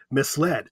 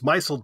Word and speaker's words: misled: is not a verb it's just the past tense of to mislead misled I would say my sold that's bad uh you know there was like some scholar but so she was giving a speech and she said I was micelled by this and people